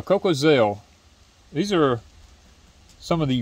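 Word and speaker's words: Cocozelle: November the 9th coca-cell how do you say that cocazel no coal Coco yeah cocoa Zell these are some of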